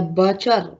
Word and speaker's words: butcher: okay anyway yes the butcher the tea is silent so the sound the sounds that comes in your mouth is from the ch okay okay now students